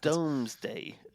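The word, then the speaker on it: Domesday: about taxes and SP doomsday so but lots of people pronounce it Doomsday Book but um it shows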